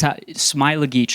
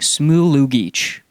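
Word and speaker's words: Smailagić: was calling alan smylageych that is smyla geech i'm pretty sure is how you're supposed to pronounce it matt devlin was saying smoo no what is he saying smoo loo geech allen smoolugich do you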